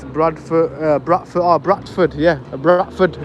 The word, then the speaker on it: Bradford: just so people I I used to say Bradford like that but because of the streamers uh some people I'll say batford and some of them will spell it in the uh comment and they put a question mark and I'll say no it's Bradford because I've said Bradford correctly uh since I've been streaming I've actually managed to be able to say it properly now I'm saying it with the D pause don't you get